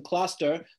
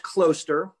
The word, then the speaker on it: Closter: us the right the synagogue itself is in cluster but you're drawing from a little bit larger area than cluster correct so we're in um closer which is it's pronounced closer it's okay everyone gets it wrong and um